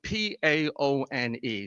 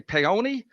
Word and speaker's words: Paone: last name is spelled P-A-O-N-E. People say, you say Paone? I said, no, it's Paone. You pay and then you own.